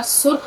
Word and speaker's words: सुर्ख: सुर्ख, देखिए सीन रे और फिर ये खे, सुर्ख, सीन रे फिर सुर्ख, खे साके सुर्ख।